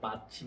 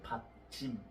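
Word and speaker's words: 받침: আমিও যখন প্রথম শিখেছি আমার কাছে ভয় লেগেছে, বাচ্চিম এটা আবার কেমন নাম। আসলে বাচ্চিম না, এর সঠিক উচ্চারণ হচ্ছে ফাচ্চিম।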